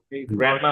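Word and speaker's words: grandma: গিম হবে না বললে চলে গ্রন্ড মামা গ্র্যান্ডমা মানে গ্র্যান্ডমা মানে আমি দাড়ি থেকে পেয়েছিলাম তাই না এইটার উচ্চারণ কি যেটা লিখলাম হ্যান্ডসাম্য হ্যান্ড না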